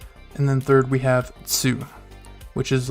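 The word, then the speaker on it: つ: remember it it's um it's almost like you're saying the word to but it's just two the tns sounds are together so you caught two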